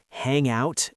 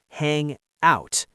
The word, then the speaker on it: hang out: Did you notice the phrasal verbs hang out and turn down? In phrasal verbs, the stress is usually on the second word. Listen. Hang out.